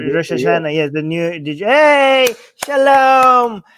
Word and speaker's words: Rosh Hashanah: It's Rosh Hashanah. Is that how you say it? Rosh Hashanah? Rosh Hashanah, yes.